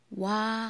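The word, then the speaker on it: 와: Pagsulat niyan is wa kasi start yan sa iyong o at saka a. Okay? Wa ang pagbasa nito. O at saka a. O a. Hindi siya binabasa na o a.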